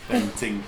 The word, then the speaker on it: Bentinck: Bentinck.